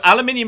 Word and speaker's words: aluminium: think it was no aluminium is the actual element aluminum is just an accepted North American variant I thought that was